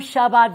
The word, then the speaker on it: Chabad: Passover's coming up on the 5th, so I have Rabbi David from Chabad Vail is the proper way to say it.